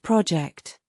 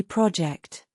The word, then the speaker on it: project: In this case, the stress goes in the second syllable. As you can see, it's not project. When it's a verb, it should be project.